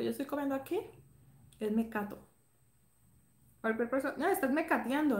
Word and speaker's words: mecato: Me cato. Esto todo, lo que yo estoy comiendo aquí, es mecato.